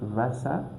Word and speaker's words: Wasser: So W, we read it like V. For example, this word Wasser, meaning water.